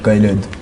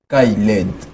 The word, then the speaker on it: Khayled: Ouais, le nom c'est Kyled. Est-ce que vous entendez ça? Répète d'abord. Kyled. Kyled. Essayez un peu de prononcer à la maison.